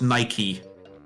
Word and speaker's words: Nike: No, it's actually pronounced Nike, but you're Yeah, you're right. Yep. Nike. The only It's so weird. I've tried buying Nike shoes at some point and normally in the